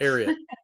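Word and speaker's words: Ariat: You know, prior to the pandemic, you're the VP of Denim, a very Tell me if I'm pronouncing it right. Ariot or correct? Ariot.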